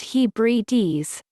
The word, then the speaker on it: Hebrides: originated in the scottish highlands and the outer hebrides pronounced hebrew d's it is the island chain to the immediate